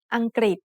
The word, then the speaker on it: อังกฤษ: the final consonant งองู The second syllable has the initial consonant กอไก่ the vowel รึ pronounced as ริ Together they make the sound กริ like a consonant cluster กอไก่ and รอเรือ with the vowel สระอี Then the final consonant สอฤาษี makes a T-stop.